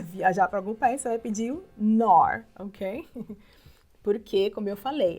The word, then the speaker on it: Knorr: perguntar você vai pedir nor Ok porque como eu falei essa é a regra a gente não pronuncia a letra k quando ela começa né a primeira letra da palavra e ela vem antes